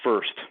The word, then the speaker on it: Firsd: de and the transliteration the best transliteration that week we came up with it sounded more Americanized and easier to pronounce was first but we put the D on it to keep that kind of the one of the characters of the Chinese name you know you mentioned